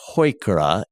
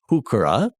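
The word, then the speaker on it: Heuchera: Now, I pronounce it hoikura, Heu, hoikura. I've also heard some pronounce it hukura.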